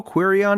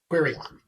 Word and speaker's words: Queryon: How do you spell Queryon again? So it's query, Query, and then on. How do you say it? Queryon. Query on. Like keep calm and query on.